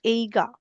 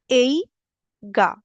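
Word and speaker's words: 映画: यूज करेंगे वो करेंगे एइगा। मैं इसकी प्रोनाउंसिएशन फिर बताती हूँ, मूवी को बोलते हैं एइगा, एइगा। ओके, अगर मैं मतलब इसको ब्रैकेट में इसका जापानीज वर्जन भी लिख दूं तो इट इज एइगा।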